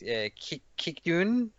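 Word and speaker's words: Kijkduin: descend on protected beaches at I can't even pronounce the name. It's Kikdoen, which is in South Holland in the Netherlands.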